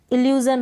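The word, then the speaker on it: illusion: इल्यू और जन है, ये एस है ना, एस यहाँ पर ज पढ़ा जा रहा है, इसको जन, SION को। इल्यूज़न यानी कि किसी चीज़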